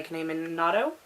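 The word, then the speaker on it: Kanae Minato: very beginning of August, and that's Confessions by Kane Minato. I think that's how you pronounce her name.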